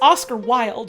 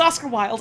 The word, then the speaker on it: Oscar Wilde: His name is pronounced Oscar Wilde, right?